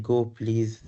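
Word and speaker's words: gopls: And they they pronounce it as like go please.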